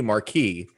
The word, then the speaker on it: Marquis: think it's supposed to be Marquis. Marquis. They keep but it's mispronouncing Marquez.